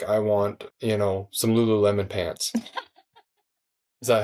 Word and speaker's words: Lululemon: you'll be like I want you know some Lululemon pants is that how you say it yes